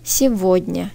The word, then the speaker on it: Сегодня: Сегодня kelimesinde G harfi V olarak okunuyor. Бunu unutmayalım. Сегодня. Сегодня. Сегодня deseniz de anlarlar sizi Ruslar. Problem yok. Ama yanlış. Сегодня diyoruz.